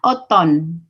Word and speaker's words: automne: Tulisannya l'automne, bacanya automne. Tulisannya, ada yang tahu? Voilà. Ya. Tulisannya l'automne, tapi bacanya automne. Karena A ketemu I, dimanapun tempatnya, dimanapun katanya, tetap dibaca O.